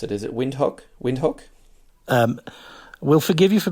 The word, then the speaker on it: Windhoek: And the city you're in, and I hope I didn't mispronounce it, is it Windhoek? Windhoek? We'll forgive you for being Australian, Jamie, but it's Windhoek.